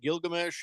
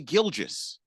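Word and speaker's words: Gilgeous: Hey congratulations to uh Gilgamesh Alexander he has uh had a huge gilges Alexander you mean Shay gilis Alexander Shay is his first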